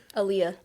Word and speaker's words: Aaliyah: Pronounce your first name for me. Aaliyah.